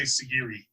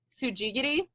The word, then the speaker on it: tsujigiri: do to it but as it's written on the label i would say sigiri okay those are all like fairly close but it so it's pronounced tsujigiri which like no doubt